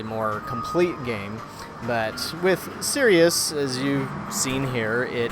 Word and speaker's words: Sirius: the first one is called Sirius and or Cyrus if you want to pronounce it that way I guess it depends on where you're from that this was developed